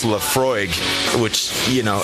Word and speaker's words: Laphroaig: isla which this one in particular is it's pronounced laphroaig which you know it's kind of an interesting